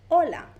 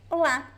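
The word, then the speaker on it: olá: In Spanish, the stress is at the beginning. In Portuguese, the stress is at the end. So in Spanish, we would say hola. In Portuguese, hola. The A sound is the stressed one, okay?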